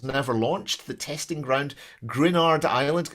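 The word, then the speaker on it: Gruinard: The testing ground, Grenard Island. Am I pronouncing that right? Is it Grenard Island? I checked the translation. I think it's Grinyard. Grinyard, we'll go with that. That sounds better.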